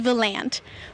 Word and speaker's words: Volant: romance so there you have it the correct pronunciation of this little town is Volant reporting in Volant I'm Amanda Conway for the